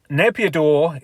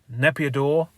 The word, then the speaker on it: Naypyidaw: So I'm sure you've seen Naypyidaw some point in your life. I'll try and get up some pictures, hang on. Or Naypyidaw is actually the correct way to say it, I think.